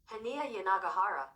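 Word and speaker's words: Hanya Yanagihara: Here is how we pronounce this author's name. Hania Yanagihara.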